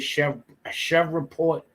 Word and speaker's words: Shreveport: That's how you pronounce it, Shreveport, Louisiana, right?